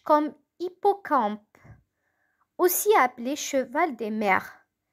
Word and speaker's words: hippocampe: Donc, hippocampe. Hippocampe. Ça commence par un H muet.